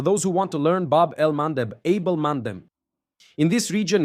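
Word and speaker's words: Bab el-Mandeb: Here in the Bob Elmanddeb Strait. That's how you pronounce it. Okay, for those who want to learn Babel El Mandeb, Abel Mandem in this region here, that's straight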